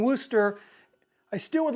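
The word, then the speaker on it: Worcester: use Wooster sauce saying Wooster I still would like to know Great Britain why the proper pronunciation is woster not Worster shirt just looking at the spelling doesn't make any sense but doesn't matter so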